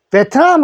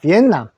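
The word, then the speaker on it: Vietnam: 그냥로 겁니다에 그래서 베트남 그래서 우리가 베트남인데 영어로는 발음이 조금 다릅니다 남이라 해서 요거부터 읽습니다 V 요거 @ V에 소리에 요는 받침입니다 그래서 엔나 됩니다 비남 비남 비남 비남이라고 하는데 자 우리는 비엔남이라고 베트남은 남이라는 거 발언 주의하시고 한글에는요 비업 소리에요 이자를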